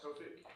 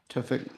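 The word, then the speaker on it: Towfigh: Topic. Topic. How do you spell it?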